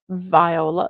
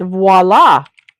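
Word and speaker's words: voilà: calendar everybody and um it is not Viola Viola so it's voila VOA is a bo boy what is that word what is that word it is voila voila I did pronounce it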